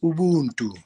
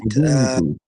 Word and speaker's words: Ubuntu: Yeah, so basically Ubuntu, it's pronounced Ubuntu, right? Ubuntu.